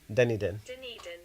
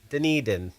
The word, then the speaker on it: Dunedin: Sounds like Dun. Yeah, you're right. Yeah, here. Dunedin. Dunedin.